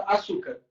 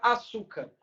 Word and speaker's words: açúcar: Por exemplo, aqui, ó, eu vou pegar a palavra açúcar, que está escrito aqui no quadro. A palavra açúcar, qual é a sílaba tônica?